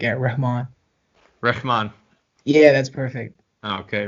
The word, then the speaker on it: Rehman: h like this sound like like a ramon reshman yeah that's perfect okay right all right welcome